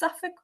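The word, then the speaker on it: Suffolk: Did I pronounce Suffk correctly? I am from SuffK. I was booked SuffK. So yes, you did that well.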